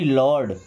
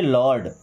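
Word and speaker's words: lord: और जैसे सी ओ आर डी इसे पढ़ेंगे कॉर्ड क्या पढ़ेंगे कॉर्ड एल ओ आर डी लॉर्ड क्या पढ़ेंगे लॉर्ड एस ओ आर टी क्या पढ़ेंगे शॉर्ट क्या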